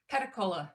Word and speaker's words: Pedicolis: say your last name catecola it's french you know the french they don't ever pronounce their last consonants so well thank you